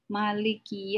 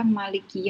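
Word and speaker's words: مالك: Terkadang ada yang membaca dengan cara Maliki Yaumiddin. Mimnya panjang. Terkadang ada juga yang membaca Maliki Yaumiddin. Mimnya pendek.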